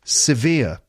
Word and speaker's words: severe: had a severe headache severe two syllables via the second syllable is the stressed one severe a severe headache